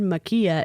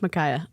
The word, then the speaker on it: Makaya: pronouncing your name right I remember when I said it wrong because I think I said Makia and I think that's wrong so I think it's Micaiah I'm sorry I I